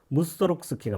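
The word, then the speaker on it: Mussorgsky: 라가 또 예정이 되어있습니다 무스 록 스키 이제 이렇게 표준으로 발음을 아저 이 펴기를 하기로 했나 봐요 무쏘 록스 키가 맞습니다 그니깐 몇 시 아에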